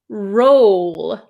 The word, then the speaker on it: roll: The second word is roll.